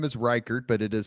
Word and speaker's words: Ryckaert: So So your last name is Riker, but it is spelled Yeah, it's R Y C A R T.